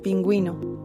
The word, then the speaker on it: pingüino: La diéresis señala que la U no es muda, sino que debe pronunciarse. Por ejemplo, pingüino, que se pronuncia pin, gui, no.